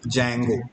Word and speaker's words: Django: जैंगो है ना, इसमें ध्यान रखना है डी साइलेंट है, तो आप इसको सिर्फ क्या पढ़ेंगे? जैंगो framework.